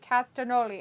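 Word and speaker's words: Castagnoli: it still exists because like g is silent it's pasta with c castanoli i knew how to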